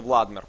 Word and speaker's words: Владимир: слышать вот правильно Так конечно конечно владмир правильно произносится и не демон амо